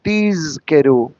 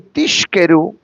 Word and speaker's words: tizkeru: Why do we pronounce the word tizkeru? Because if I say tizkeru, it means higher. Or if you say tishkeru, it means get drunk.